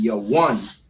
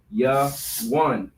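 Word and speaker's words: יָוָן: And it's Javan or Javan, all right? In the Hebrew, it is pronounced Yawan. Yawan.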